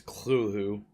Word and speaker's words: Cthulhu: if you don't know that's Cthulhu or I guess another pronunciation is clue whoo but yeah I'm gonna